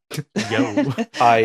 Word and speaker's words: Jo: It's pronounced Yo. My bad. Yo.